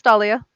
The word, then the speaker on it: Dahlia: No, it's Dahlia.